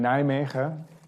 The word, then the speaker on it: Nijmegen: So I have a really nice research group in my lab in Nijmegen, which is the good pronunciation.